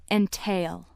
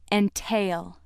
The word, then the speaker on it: entail: If word seven is being used as a verb meaning to put a burden on or involve or to restrict ownership by limiting inheritance, it is pronounced entail. Entail.